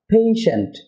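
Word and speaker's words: patient: Dear viewer, যেটাকে আমরা পেশেন্ট বা পেশেন্ট যাই বলি না কেন, এটা হবে পেশেন্ট। এর প্রথম সিলেবল স্ট্রেস হবে, পরের সিলেবলের উচ্চারণটি হবে সেন্ট, পেশেন্ট।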